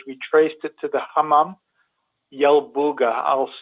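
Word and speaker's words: Hammam Yalbugha: We traced it to the Hamam Yelbuga. I'll spell it.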